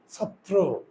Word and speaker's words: ছাত্র: ছাত্র কিন্তু শুদ্ধ উচ্চারণ ছাত্র দ্রুত উচ্চারণ করতে হবে তো এখানে শেখার বিষয়টা